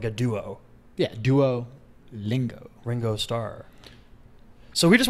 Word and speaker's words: Duolingo: Is it Duolingo or Duolingo? Duolingo. Like a band, like a duo. Yeah, Duolingo.